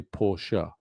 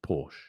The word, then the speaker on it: Porsche: It's like, I'd say Porsche, but some people just say Porsche. Well, it's German, so I'd say Porsche because it's German. I wouldn't say Porsche.